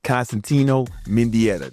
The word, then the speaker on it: Constantino Mendieta: Constantino Mindetta.